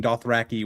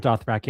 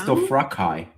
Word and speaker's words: Dothraki: Do you guys know how George pronounces Dothraki? No. No. He says Dothrakai. Oh. Well, Dothrakai. Well, George is wrong.